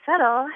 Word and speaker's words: subtle: me think oh yeah settle has a b in it which I always thought was a really funny word to have a silent letter because you could say